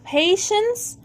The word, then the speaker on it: patience: TIE برضو شه، فهتبقى patience و patient.